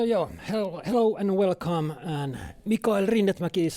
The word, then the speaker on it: Mikael Rinnetmäki: And Mikael Rinnetmäki is how I pronounce my name.